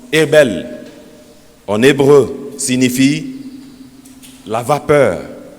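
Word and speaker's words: הבל: Le mot vanité, qui se prononce Hebel en hébreu, signifie la vapeur, la buée, le souffle, le vide.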